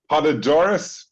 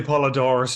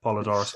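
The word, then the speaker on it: Poledouris: Stewart, with the music by Basil, I always pronounce his name wrong, Podadoris. Brian, I'm going to turn that over to you. How do you pronounce his surname? I would say Polydorus as well. Yeah, that sounds. Right. It sounds right. Polydor, like I'm pronouncing it phonetically.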